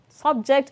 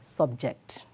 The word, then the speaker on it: subject: t t-y-r-e number three subject and subject subject and subject the stress pattern on the first subject is on sub while the second one the stress is on the second syllable number four pair and